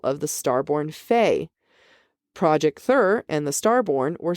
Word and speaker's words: Thur: Also Thur rhymes with her.